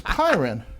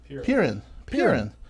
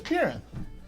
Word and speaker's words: Pirin: It's Pyron. Rhymes with beer in? Pirin. Not Pyron. Peering in. It's Pirin. Peering through the window.